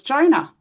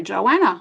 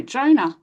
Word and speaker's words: Jonah: I'd say my name was Jonah. And they'd go, Joanna. And I was like, no, Jonah.